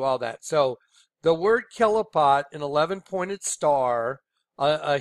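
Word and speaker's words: Qliphoth: it okay so the kelipot I mean it's spelled it spelled qli pH o th or here's a good way to understand how to say it kelipot okay Hebrew and here's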